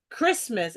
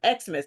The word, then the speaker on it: Christmas: which is a Greek letter so it's still pronounced Christmas instead of exmas so I had I just broke all that